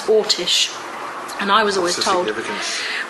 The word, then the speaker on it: Orsic: A lot of people spell it Orsic, O-R-S-I-C. I don't believe it was that. I believe it was Ortish.